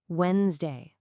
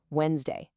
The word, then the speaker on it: Wednesday: Now, the secret, and this is a game changer, is to completely ignore how it's spelled. Seriously, pretend that D and that second E just don't exist. It's only two sounds. Wednesday. Let's try that again. Wednesday.